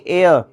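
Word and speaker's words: heir: Waris property the Waris हायर नहीं एयर H silent है एच इ आई आर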